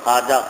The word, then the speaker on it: খাজা: শব্দ ছিল খাজা খাজের খাজা শব্দ লিখছে উর্দু ফারসিতে খা ওয়াও আলিফ জিম এ আসল উচ্চারণান্ত হয় খোয়াজা এখান থেকে মানুষ বলে খোয়াজ কিন্তু এই ওয়াওকে বলা বলা হয় ওয়া মাদুলা ওয়াবে মাদুলা লিখতে লিখতে হয় কিন্তু পড়তে পড়া যায় না তো খাজা লিখতে যে